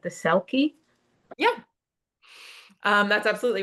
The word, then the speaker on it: Selkie: The Selkie.